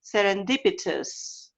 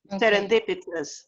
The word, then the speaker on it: serendipitous: it's not os is serendipitous exactly it's a schwa serendipitous okay like glorious serendipitous glorious okay okay